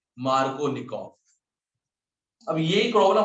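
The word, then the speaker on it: Markovnikov: मार्कोनिकॉफ, spelling बोलना MARKINOV, तो मार्कोनिकॉव हुआ? नो, मार्कोनिकॉफ।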